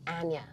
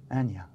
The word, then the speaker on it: Anya: the language pretty quickly in america people find it very hard to say my name it's anya anya and yeah yeah i'd say like aneurysm i'm trying to find